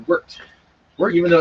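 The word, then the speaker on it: wort: much i i've read that it's actually not pronounced wart it's pronounced worked we're even though it's filled with an o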